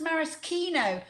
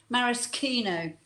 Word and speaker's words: maraschino: Oh yes, it's actually pronounced maraschino. Lots of people mispronounce it, but it's actually a marasca cherry. It's a morello cherry grown in Moravska, which is in Croatia. So it is actually pronounced maraschino.